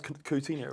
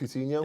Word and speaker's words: Coutinho: Did I say pronounce Coutinho right? Coutinho?